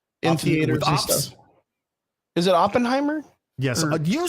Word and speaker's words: Oppenheimer: pronounced it correctly yeah there's no F's in there though yeah I keep thinking